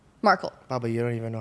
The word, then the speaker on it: Markle: Markle or Margle? Markle. Baba, you don't even know how to pronounce her Meghan name.